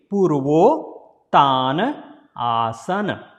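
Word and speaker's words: Purvottanasana: So Purva and Tana, again putting together, so O is coming in place. So it will be Purvottaanaasana.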